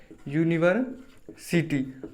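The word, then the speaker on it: university: हैं तो वह इस तरह से लिखते हैं यूनिवर सिटी अब एक यूनिवर्सिटी जो शब्द है वह शुरू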